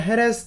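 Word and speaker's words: Jerez: 숙성시키기 위한 캐스크는 스페인의 헤레스 데라 프론테라라는 곳에서 나옵니다 보통 헤레스라고 줄여서 표현하고 거기를 영어식 발음으로 쉐리라고 표현을 하는 거죠 거기에 가면 쉐리 페스크가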